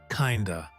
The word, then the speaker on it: kind of: In spoken English, it is often pronounced kinda.